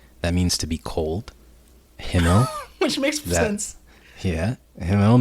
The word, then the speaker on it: Himmel: How do you know the right pronunciation from hearing them? But I watched it in Japanese, right? So is it Himmel, Eisen, Heiter, Yep.